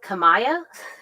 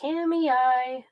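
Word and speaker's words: Kamiah: It's spelled Kamaya, I think, if you did it phonetically, but around here they call it Kamei.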